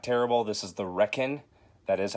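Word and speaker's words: Requin: This is The Reckon. That is how it's pronounced.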